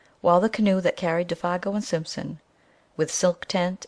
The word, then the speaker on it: Défago: Good luck, Monsieur Défago," he added facetiously, giving the name its French pronunciation for once.